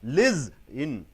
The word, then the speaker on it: listen: Liz in. Liz in. Ga, ga. Second ga should be given sound because it is a verb. Listen. The second sound should be, the second syllable should be stressed.